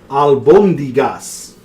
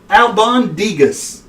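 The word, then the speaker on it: albóndigas: Pronounce the dish. Albus Dumbledore, albacore tuna. It's called Albondigas. Albondigas.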